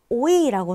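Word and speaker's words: Eu: 그리고 발음 기호 보시면 오이라고 써 있어요. 그쵸? 오이라기보다는 살짝 풀어져서 오와 어 사이라고 생각하시면 돼요. 그래서 어이라고 발음하시면 됩니다.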